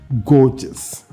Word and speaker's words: gorgeous: it properly gorgeous gorgeous the first syllable stress correct pronunciation is gorgeous we can study some